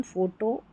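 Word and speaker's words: photo: Number 5 पर है पी एच, इसको फ पढ़ना है। देखिए यहाँ पर पी एच है, पी एच है, पी एच, पी एच, पी एच, और यहाँ पर भी है, तो फ, फोन, फोटो, फोनिक्स, एलिफेंट। तो पी एच जब साथ में आएगा फ पढ़ देना है।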